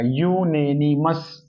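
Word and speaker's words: unanimous: एक मत डिसीजन तो यूनेनिमस य का साउंड आएगा यूनेनिमस य का साउंड है यानी कंसोनेंट साउंड है तो अ यूनेनिमस डिसीजन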